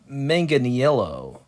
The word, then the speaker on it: Manganiello: Is it Manganiello or Manganiello? Uh, yeah. Let me look up how to pronounce it.